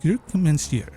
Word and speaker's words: croque monsieur: play the game, and she's like, no, it's pronounced Croque Monsieur, or she was saying it right.